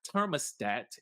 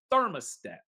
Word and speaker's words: thermostat: therat and and thought everything that starts with a th ends up sounding like it starts with a just a t like it's not thermostat it's thermostat why why can't we